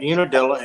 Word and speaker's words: Unadilla: So now what the Hog Drop is, though, it's a contest in Unadilla, Georgia. Did I say it right? Yep, Unadilla in downtown.